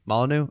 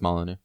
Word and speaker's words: Molyneux: Molyneux. All right. Thank you, sir. You're just kind of the official pronunciation dude. At least on I'm the show. relatively positive it's Molyneux.